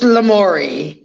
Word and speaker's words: Lamourie: do you say that it is just lamori lamori okay yeah lamori